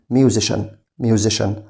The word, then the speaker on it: musician: خلي بالك CIA هنا بنطقها بصوت الشا فبقول musician.